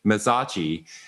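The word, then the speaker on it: Mezzocchi: And I just want to brag a little bit because one of our users, Jared Mazachi, I would say it wrong. It's like Versace, Mazachi, who's an incredible user.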